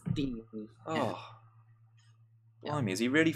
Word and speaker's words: Digne: How are we pronouncing Digne? Digne? I think it's Luca Dean. I saw Luca Dean. Says it's Dean.